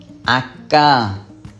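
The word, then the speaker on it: acca: হবে এফ এ জি আক্কা দেখেন যেটাকে আমরা এইচ বলে আসছি সেটার উচ্চারণ আক্কা হবে ই এখানে যেটাকে আমরা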